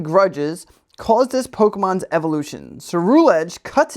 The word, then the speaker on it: Ceruledge: Ceruledge. Ceruledge. An old set of armor, steeped in grudges, caused this Pokemon's evolution. Ceruledge cuts its enemies to pieces without mercy.